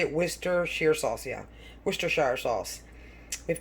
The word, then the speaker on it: Worcestershire: Worcestershire sauce, yeah.